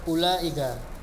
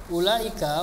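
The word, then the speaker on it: أولئك: Tilka, tanika, ulaika. Ulaika, wawnya itu bukan mad ya. Wawnya itu bukan mad. Bukan dibaca ulaika, enggak. Tapi ulaika. Pendek saja.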